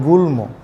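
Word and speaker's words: গুল্ম: কোন সময় কিন্তু আছে ম ফলা আপনাকে পরিষ্কার উচ্চারণ করতে হবে যেমন গুলম এখানে ম ম এবং ল ফালা দুইটাই উচ্চারণ করা লাগবো সুতরাং এই ধরনের উচ্চারণের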